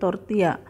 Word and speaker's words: tortilla: Ejaannya adalah tortilla, tetapi pengucapannya adalah tor-tee-yah.